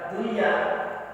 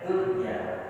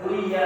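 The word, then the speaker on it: دنيا: mati kemuliaan Unas cuma kalau dia satu kata Dunya maka Akak dibaca Dunya Jadi dibacanya Dunya sirwanun Nah itu enggak boleh ditahan enggak boleh di enggak boleh di apa di digabung di juga enggak boleh Enggak boleh duya Enggak boleh sanun juga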